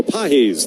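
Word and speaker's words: Pagés: Pedro Pahes, the catcher, is going to lead off. The right-handed hitter takes one in at the knees. Cutter for strike one. Spelled like the English word pages.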